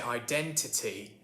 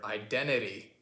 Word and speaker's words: identity: lot like for example when i say identity i say identi t with two t's there versus you seem to be saying something a bit different you are absolutely right so the difference there is that in a lot of american accents the t disappears sometimes after the n sound so for example the way that i say the word identity identity you kind of drop the t there but another thing's happening